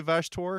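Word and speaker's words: Vashtorr: yeah the lore yeah I will always say vashtor because it rhymes with trogdor and that is how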